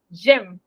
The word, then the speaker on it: j'aime: Porque es j'aime. No se pronuncia la E final, pero al escrito él está.